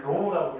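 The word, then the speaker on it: ρ: 읽을 때는 로우라고 읽어줘.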